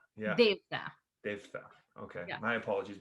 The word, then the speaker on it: Devatha: Devatha.